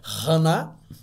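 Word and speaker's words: חנה: dava o porção dobrada para ana que no hebraico e pronuncia hanna a mais amava casou-se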